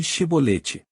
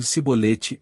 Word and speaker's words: chibolete: não diziam nem Então diga um chibolete se ele dissesse em sibolete sem conseguir pronunciar corretamente a palavra prendiam me matavam no